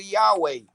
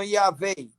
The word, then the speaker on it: Yahweh: O seu nome é o tetragrama Yod, Rei, Vav, Rei, que se pronuncia no hebraico paleu, hebraico antigo, Yahweh, e no hebraico moderno, Yahveh.